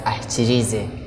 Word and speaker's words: Ahikyirize: You pronounce it as Ahikyirize. Ahikyirize.